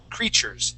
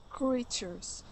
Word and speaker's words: creatures: creatures so that t and the U actually create a CH sound creatures try that please creatures good one more time creatures creatures all right now on